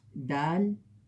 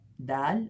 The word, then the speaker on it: دال: اور یہ ہے دال، اس کا تلفظ ہے دا.